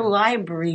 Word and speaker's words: library: You skip a syllable when you say that word. Future library. Do I is it in library that I skip it? Well, have you ever read the word? Yeah. Yeah. Three syllables in it.